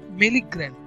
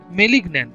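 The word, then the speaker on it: malignant: তার প্রথম প্রশ্ন আছে বেনাইন, বেনাইন, বেনাইন মানে হচ্ছে ফলপ্রদ, তাহলে ফলপ্রদ, তা এর সঠিক উত্তর হবে মেলিগ্রান্ট, মেলিগ্রান্ট, মেলিগন্যান্ট, সরি মেলিগন্যান্ট, তাহলে এই উচ্চারণটা হবে মেলিগন্যান্ট, মানে এটা ফলপ্রদ, মানে অপোজিট যেটা আমরা এখানে বার করলাম, তাই তো?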